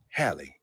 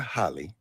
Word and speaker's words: Halle: But the first thing I thought was, it's pronounced Halle, not Holly. And then the next thing I thought that's why you guys, that's What why I had to make sure I said it right, because I think I say Holly, Holly Berry, but it's Halle Berry.